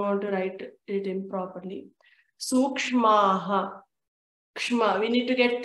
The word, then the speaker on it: सूक्ष्माः: Te prati prasava heyaha sukshmaha. Here, let us make sure to pronounce this part perfectly. Sukshmaha. We need to make sure we get the K and the S dot.